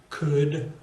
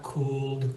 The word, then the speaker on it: could: related to each other could would and should it's not cooled wool that should could